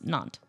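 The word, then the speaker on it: Nantes: Don't even try to pronounce that at the end. It's naunt.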